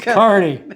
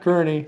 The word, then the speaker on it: Kearney: We now know how to pronounce Carney. That's right. It's Carney, not Carney.